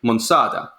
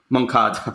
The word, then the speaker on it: Moncada: and everything, together with Monsada, who is a scout. Moncada, sorry, yes, to pronounce it. We've learned that it's Moncada.